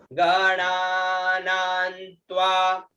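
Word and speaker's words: गणानां त्वा: तो गणानान्त्वा, अब यहाँ पर देखिए ग है, णा है, ना, आधा न, आधा त और वा, शुद्ध उच्चारण होगा गणानान्त्वा।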